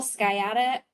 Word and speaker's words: sciatica: Key symptoms include severe low back pain, saddle anesthesia, which is numbness in the buttocks and / genitalia, bilateral sciatica. The first C is silent.